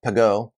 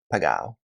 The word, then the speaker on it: Pegau: already cringing and saying, this idiot pronounced it incorrectly, it should be called Pegau. Well, I'll have you know that I visited the winery and that the family members themselves have a dispute about how the name is pronounced. And so for that reason, I'm going to continue calling it Pegau.